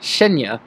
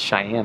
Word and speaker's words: Cheyenne: 2 weeks later, I will be driving up to, as what my brother calls, Cheyenne, Wyoming. It's actually pronounced Cheyenne, I believe.